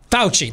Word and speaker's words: Fauci: got like a tick and i want to pronounce it a certain way fauci that's it okay i got that enunciation right